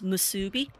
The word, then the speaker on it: musubi: I always mispronounce the name, but the actual name for it is musubi.